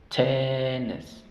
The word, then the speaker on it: tennis: El sonido corto de la E, ¿cuál es? T, y de hecho esa es la sílaba tónica, la sílaba que tiene fuerza. T, y la siguiente, la sílaba tónica, la sílaba débil, perdón, es tennis, tennis.